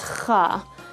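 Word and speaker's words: خ: The closest letter that comes to it is the letter K, the K sound. You want to dig deeper, open, don't block the windpipe, and pronounce Kha.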